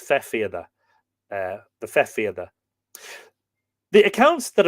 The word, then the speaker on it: fethfiada: Druids and others could raise or produce a fefiada or fethfiada. So it's pronounced, or sorry, it's spelt different ways. Here, FE-FIADA or FETH hyphen FIADA. So I imagine it's the TH is rendered silent. So it's fefiada, the fefiada.